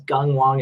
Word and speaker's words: Gung Wong: everyone my name is gung wong it's not really phonetic if it's helpful it's pronounced like gung-ho um and so i'm